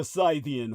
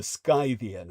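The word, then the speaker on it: Scythian: It has the most to lose if the frontier breaks and disorges the Syian hordes. Um, I believe it's actually properly pronounced the Skyian hordes.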